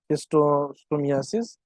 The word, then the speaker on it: schistosomiasis: So DOTS is the most effective treatment in HIV, AIDS, leishmaniasis, malaria, and what is the pronunciation of this word? Schistosomiasis and then tuberculosis।